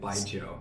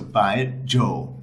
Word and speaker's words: Baijiu: pronounce it correctly because it's like by and with a J. So, by and then if you add the yo at the end by Joe. So, by Joe.